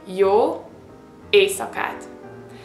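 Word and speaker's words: jó éjszakát: night you can say y ASAT now here comes the thing that I said you see the letter s followed by the Z okay so that's why you have to pronounce it s you don't say Y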